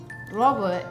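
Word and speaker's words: ረቡዕ: Robot is Wednesday. Wednesday is Robo. Uh-huh. Like me, almost. Almost like Robot.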